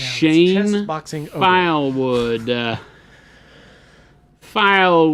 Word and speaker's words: Shane: So close, Shailene. Yeah, it sounds sort of the same. Shane. It's pronounced Shane chess boxing.